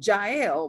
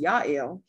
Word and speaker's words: Jael: the keynotes house well jael which is pronounced yael um is home right